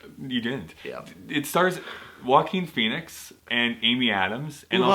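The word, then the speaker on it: Joaquin: Amy Adams and also also never could pronounce until now Walken yeah Wen joakin joakin exactly that's I always thought that's how you had to say his name and then the voice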